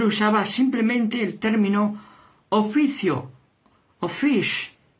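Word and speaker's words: office: simplemente el término oficio ofish se pronuncia Así que es un término para oficio f en inglés por lo tanto cuando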